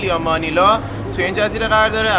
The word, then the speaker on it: مانیلا: هستیم که پایتخت فیلیپین، مانیل یا مانیلا توی این جزیره قرار داره. البته تلفظ فارسی مانیل از فرانسوی اومده، بقیه دنیا بهش میگن مانیلا، واسه ما هم تو این ولاگ بیشتر بهش میگیم مانیلا.